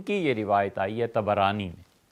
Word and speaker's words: طبرانی: یہ روایت آئی ہے طبرانی میں۔ طبرانی کا اصل تلفظ یہی ہے، طا پر بھی زبر ہے، با پر بھی زبر ہے، طبرانی۔ طبرانی رحمۃ اللہ علیہ